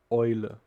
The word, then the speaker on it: Eule: So, for example, if we put E and U together, it will be pronounced like oi, not EU, but oi. Okay, the example for this letter is, for example, Eule.